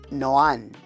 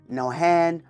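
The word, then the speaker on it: Nohán: Because many don't know, my name is Noan, and it's with an accent over the letter A, which then silences the H.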